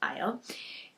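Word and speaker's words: Ayo: So Io, or Ao, Bucky calls her Io, so I'm assuming her name is pronounced Io, reads back his words,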